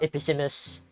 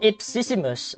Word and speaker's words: Ipsissimus: Episissimus? Okay. More like... Oh, Ipsissimus. Oh, that's how you say it.